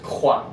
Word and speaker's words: croix: So for example, like when I was doing French R, the first word I did was croix, right? So it's in French it's spelled like this, C-R-O-I-S. The first word, the reason I did it is because back of your throat.